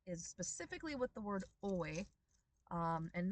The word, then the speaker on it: oi: Um, by itself, it is oi and it is two syllables.